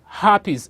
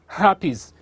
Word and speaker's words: herpes: to talk about today is next one is happies say that happies does is spelled h-e-r-p-e-s herpes is a viral disease that